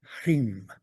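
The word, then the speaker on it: ह्रीं: Rim. Okay. You pronounce the H a little bit.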